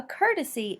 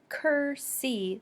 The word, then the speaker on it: courtesy: horse courtesy courtesy a courtesy is a nice polite thing to do don't get confused with kursi this is courtesy so it's got an extra syllable in there cease cease cease is